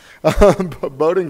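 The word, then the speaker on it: Bowdoin: in future climates Ulrich earned her bachelor's at boating oh should I ask you how to pronounce that Bo Dylan doing tomato potato boating College thank you and her Masters in PhD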